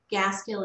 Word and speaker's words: Gaskill: So Gaskill is G-A-S as in Sam, K-I-L-L, like the words gas and kill together.